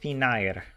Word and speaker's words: Finnair: Do you say thin air or do you say finair? What? I assume you say it kind of the English way, but the latter. Wait, you actually say it as it's spelled? Finair? Finair. Finair. You do? 100% the Finnish way.